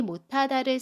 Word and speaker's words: 못하다: 못의 받침 시옷 뒤에 자음 히읗이 오면 받침 시옷은 받침 소리 디귿으로 발음해요.